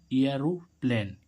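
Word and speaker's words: aeroplane: तो गाइज देखो इसमें ए के बाद क्या आ रहा है, आर। ए के बाद क्या आ रहा है, आर। तो इसका उच्चारण क्या हुआ, एरोप्लेन। ए आ हो रहा है ना, एरोप्लेन।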